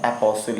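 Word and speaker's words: apostle: एपोसिल इसको पढ़ते हैं, टी आप यहाँ पे साइलेंट रहता है, ठीक है ना।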